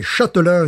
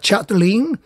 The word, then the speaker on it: Châtelain: le long de massacré son nom est châtelain donc tout le monde l'appelle au mieux chaque ligne si ce n'est pas chateline donc il m'a dit